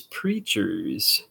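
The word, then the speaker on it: Preatures: um this is the preachers and it's spelled like features but it's preachers so and this is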